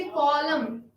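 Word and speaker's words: column: आगे बढ़ते हुए N is silent in the word final spelling sequence MN।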